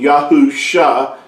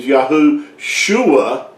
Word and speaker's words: Yahusha: Yahweh yaho you know the messiah's name being yahusha and but if you attach it and you say his name is yahushua what you're actually saying is that Yahweh is crying out and that's not accurate